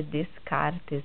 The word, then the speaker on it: Descartes: O nome dele é Descartes mesmo, mas a gente pronuncia Descartes, tá?